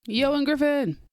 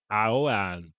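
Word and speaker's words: Ioan Gruffudd: There's a bunch of other people in it, but Ewan Griffin.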